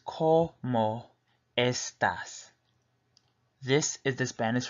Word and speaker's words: cómo: Again, como, C-O-H, is how you pronounce it, co, and then the second half of the word, mo.